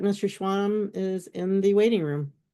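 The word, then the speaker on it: Schwalm: Would you state your name and spell it for the record? Schwam, s c h w a l m.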